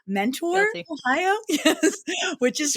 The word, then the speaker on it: Mentor: You always know the people that really aren't from up there that they say Mentor, Guilty. Ohio. Yes. Which is fine. Guilty. It looks like Mentor, but it's Mentor.